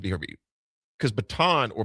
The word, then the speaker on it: Bataan: And if it's pronounced, I said to hear you, because baton or batan, BATAAN.